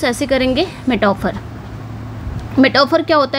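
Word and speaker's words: metaphor: आप इसको प्रोनाउंस ऐसे करेंगे। मेटाफर मेटाफर क्या होता है?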